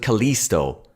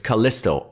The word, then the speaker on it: Callisto: that he even pronounces Callisto wrong he pronounces it Kalisto it's Kalisto I as in kit they were all dropping